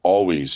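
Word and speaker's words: Alvvays: Main Street um there's a band called Always it's spelled a-l-v-v-a-y-s their their record Blue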